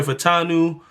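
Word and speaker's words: Fautanu: of Trevor Lawrence we're going to take Troy fanu from Washington yeah that's how you say his name guard Troy fanu from Washington he play tackle of Washington well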